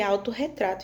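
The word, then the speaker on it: autorretrato: E aí eu vou poder, né, pronunciar a palavra corretamente, porque se eu só juntasse e não dobrasse o R, eu não poderia ler autorretato e sim ficaria auto retrato.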